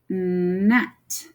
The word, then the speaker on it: gnat: So we have gnat. And then the G again is silent.